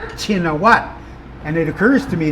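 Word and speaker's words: Shinawatra: kingdom spell their name why their name is spelled and pronounced in English shininoa when the shh sound doesn't exist in the Thai language. Uh, and why the RA? Shinowattra. If you watch foreign news, they call him Shinowatra. So, why spell it that way? Why not just spell it the way it is spelled and pronounced in Thai, Chinawat?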